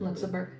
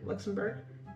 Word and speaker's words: Luxembourg: Greece, Italy, Germany, Belgium, Luxembourg? How do you say it? Luxembourg. Luxembourg.